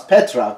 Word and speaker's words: Petra: How do you pronounce Petra, correct?